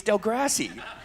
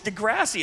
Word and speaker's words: Degrassi: to me they go it's not delivery its del grassy and I'm like isn't that the way it's said they're like no it's Degrassi and it like blew